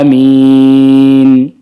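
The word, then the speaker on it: آمين: Amin itu yang panjang minnya, A-nya cuma 2. Amin. Yang panjang A-nya cuma 2 harakat saja. Minnya yang boleh sampai 6. Amin.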